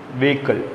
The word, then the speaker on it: vehicle: How will you pronounce vehicle? Vehicle. This is not vehicle. Many of us are mispronouncing it as vehicle.